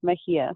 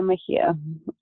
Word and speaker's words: Mejia: I introduce yourself thank you my name is pronounced and my last name is Mahia so it's Mahia and I am joining you this morning from